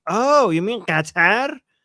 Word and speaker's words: Qatar: We say Qatar. Yeah, it's pronounced Qatar.